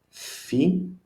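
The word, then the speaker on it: φι: Phi, strange way to write our F, I know, but that's phi, small, phi uppercase, phi lowercase, sounds like F in fire.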